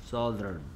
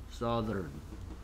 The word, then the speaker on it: southern: th가 들어있기 때문에 th 발음은 혀를 물는 물고 발음하며 z나 s라고 발음하죠. southern, southern, southern.